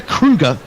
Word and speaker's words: Kruger: Kruger, like the National Park in South Africa.